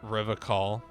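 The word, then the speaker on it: Revachol: Revacol. I like to pronounce it the hard way. The old way.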